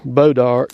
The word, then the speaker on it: Bois d'Arc: in a spell funny it's like I say boat our boat art or whatever it's spelled like bo Y EDA artists just type